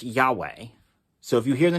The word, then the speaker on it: Yahweh: written y h v h but anyway it's pronounced yahweh so if you hear the name yahweh you